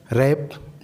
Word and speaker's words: wrap: डब्लू कब silent हो जाता है? जब कभी भी डब्लू के बाद आर आ जाए तो डब्लू साइलेंट हो जाता है। जैसे एच, रैप, WRAP, उसी ई सी के।